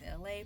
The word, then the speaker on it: Elay: And my name is LA, pronounced like the city.